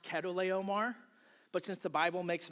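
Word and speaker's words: Chedorlaomer: And by the way, I know it's pronounced Ketto Omar, but since the Bible makes him out to be a bad guy, I think it's funnier to call him Cheddar Leomar because it reminds me of cheese.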